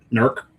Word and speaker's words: Newark: Nerk. East Norark, right? Yeah. Nerk, it's one syllable. East Norc. Yeah. Not Newark.